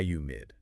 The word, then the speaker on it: humid: So, for humid, you really want to breathe out that a like a gentle sigh. H high humid.